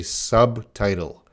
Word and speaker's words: subtitle: No, that B is not silent. We say subtitle.